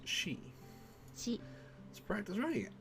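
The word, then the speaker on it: し: Pronounce this one as she.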